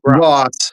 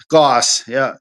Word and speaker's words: Goss: How do you say that? Gross or Grouse? Goss.